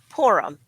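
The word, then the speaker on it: Purim: box coming up is porum which as you know it's called it's spelled p r i m pronounced porum like p o o r that's what it sounds like yes but as you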